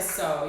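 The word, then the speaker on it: Soh: Somebody that I really like to work out to is this girl named Joanna So. You can also find her on YouTube. So is spelled S-O-H.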